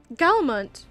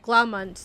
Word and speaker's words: Glaumont: Galmont, you came. I said his name wrong again. Glaumont, not Galmont.